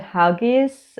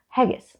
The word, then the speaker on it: haggis: like you never had huggies i'm like no i never had haggis haggis not hugs it's spelled with an a uh anyway so i